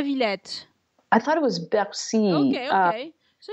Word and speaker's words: Bercy: Bercy, right. That is such a great park as well. Yeah. What a beautiful park. So is it Bercy or La Villette? I thought it was Bercy.